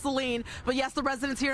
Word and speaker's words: Saline: They're hoping for a pause, and I want to apologize because I know it's pronounced Saline, but yes, the residents here in Saline, they